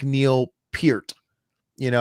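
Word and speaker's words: Peart: It's like Neil Pier, you know, everybody everybody grew up calling Neil Pier Neil per and people still to this day call him Neil Pert even though it's been on record that hey my name's actually pronounced Pier.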